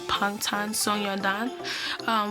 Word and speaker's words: Bangtan Sonyeondan: The B sounds like a P, so it won't pronounce as Bangtan. It will be pronounced as Bangtan Sonyeondan, which means Bulletproof Boy Scouts in Korean, beyond the scenes in English.